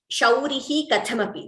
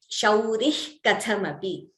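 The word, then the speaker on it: शौरिः कथमपि: Here, Shaurihi Kathamapi. This is an example from the Saundarya Lahari itself. So when we are chanting together, we chant it as Shaurih Kathamapi.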